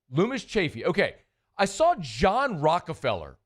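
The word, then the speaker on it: Loomis Chaffee: How do you pronounce it? Uh, Lumis Chaffy. Lumis Chaffy.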